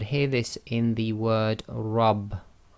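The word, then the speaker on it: رب: this in the word rab. Rab. You cannot say my rab. You say my rab. So that's why it's rab instead of rab, is because the letter ra with fatha must be pronounced heavy, so it's ra, ra.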